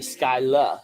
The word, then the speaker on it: Schuyler: they're not the Schuyler the way they're saying it here is the Scylla sisters given how it's spelled I think the Skylar the only person who